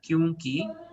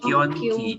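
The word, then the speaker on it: क्योंकि: Kyunki bacanya kyunki ya. Bukan kyonki ya.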